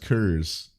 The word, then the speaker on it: Coors: Coors Light. It's pronounced Kurs.